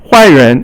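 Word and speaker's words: 坏人: 坏人 is a bad person. 坏 is fourth tone, and then 人 is second tone.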